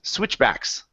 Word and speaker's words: switchbacks: Add that CH in there. Instead of swit with a T, it's a CH, like my name. Switch. Switchbacks. Switchbacks. Switch. Yes, good. Great. So that T is silent. We don't need to say it.